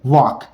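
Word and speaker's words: walk: वो है वॉक देखो हम इसे पढ़ेंगे वॉक एल हमारा यहां पर साइलेंट होगा और वक का मतलब होता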